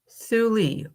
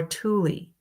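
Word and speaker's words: Thule: So thuli or tuli meant a place where no ships can sail. Again, different variations on how you say it or spell it.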